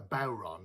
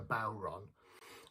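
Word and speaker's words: bodhrán: the word is a bauron okay so this is a bauron some people pronounce it buran but uh traditionally called a bauron which is a gaelic irish word uh the question is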